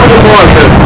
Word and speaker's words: goedemorgen: The comments of Brabant, and they can't say that they have to soft G. They say, Goedemorgen.